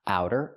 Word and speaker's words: outer: So the pronunciation use the sound like how and now. Ow. Outer. It's a fast t outer. Not outer but outer in American pronunciation.